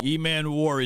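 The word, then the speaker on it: Emmanwori: Eman Warry, that's how you say it.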